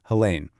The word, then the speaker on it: Helene: Her name is Helene Matthews, and just so you know, it's pronounced Helene.